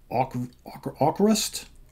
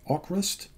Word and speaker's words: AVKRVST: V is spelled or it's pronounced kind of like a u so aquarist aquarist avocrist however the approbation is